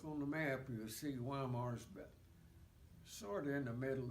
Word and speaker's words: Weimar: was a town named Weimar. They pronounce it Weimar. We pronounced it Weimar, Weimar. And we'd already gone by the other prominent town that we didn't know about, Dresden.